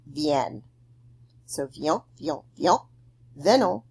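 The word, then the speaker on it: viennent: And then the il, elle, plural form, even though it's really long, remember, is just pronounced vienne.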